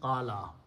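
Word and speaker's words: قال: Fa'ala, so sound should be qawala. In the original, qawala means he said, but waw is a weak letter and it has a wrong letter wrong fatha on it one wrong thing because waw goes with damma. So, this is a mismatch. So, we fix mismatch by replacing this by a sound of alif. And the word becomes qala.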